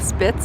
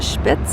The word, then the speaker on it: Spitz: We were a little delayed leaving from the town of, it looks like Spitz is what we would say, but they pronounce it Spitz here, S-P-I-T-Z.